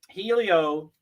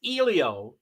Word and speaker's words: Helio: going on but um Helio or I'm it's Elio is the way to pronounce it foreign I will have